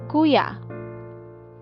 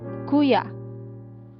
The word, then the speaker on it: kuya: we call it malumai so about stressing the second to this last syllable and in that case the accent mark is usually omitted or not written for example this one kuya kuya okay so so